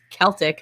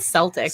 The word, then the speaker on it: Celtic: Actually, the right way to say it is Celtic, not Celtic.